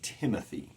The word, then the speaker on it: Timothy: My name is Timothy. I stress the Tim more than the uthi.